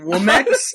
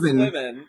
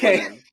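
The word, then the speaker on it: Womxn: Womex? Is that where we're going? No, it's still supposed to be pronounced women. It's still supposed to be pronounced women.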